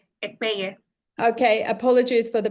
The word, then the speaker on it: Ekpeye: And it's actually Ekpeye. Ekpeye.